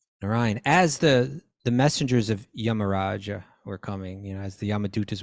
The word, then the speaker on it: Yamaraja: It's Yamaraja. Hey, Yamaraja, come on. Manjari, Yamaraj. We always say Yamaraj, but really the precise pronunciation, I suppose, right? It's Yamaraja. And he's instructing.